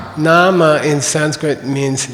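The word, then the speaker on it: nāma: should be n n is that a long a or a short a n it's a long Nama in Sanskrit means name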